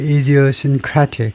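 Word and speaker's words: idiosyncratic: 아, 발음은요.에 이디오신크라틱 크라틱 예이 A의 마지막 IC로 끝나면 그 앞음절에 액센트가 있습니다.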